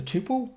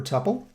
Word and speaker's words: tuple: give me Austin so that's a that's a tuple or a tuple you'll hear me pronounce it both ways and then if I